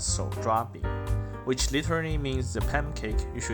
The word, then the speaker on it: 手抓饼: In Chinese, it's pronounced as 手抓饼, which literally means the pancake you should eat with your hands.